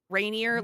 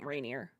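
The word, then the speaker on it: Rainier: Uh, spell it R A I N I E R. Rainineer like m like Mount Reineer.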